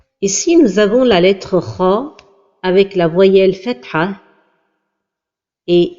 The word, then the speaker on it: خ: L'erreur de prononciation de la lettre kha lorsqu'elle porte la voyelle fatha est de l'amincir comme ceci, kha, et la prononciation correcte est kha.